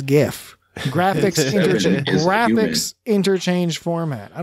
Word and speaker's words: GIF: point one one point 21 gigawatts it's actually pronounced giggle yeah i know i it's like saying jiff instead of gif and i'm sorry people out there i know our audience is divided on this it's gif graphics graphics interchange format i don't care what